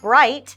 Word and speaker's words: bright: so bright outside and when we use GH in this word bright we pronounce it like I T E bright it's so bright outside so it's very similar to the word light then we have I